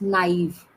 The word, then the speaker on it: naive: Could you pronounce it for me? Come to the chat box, please. Naive. It's naive.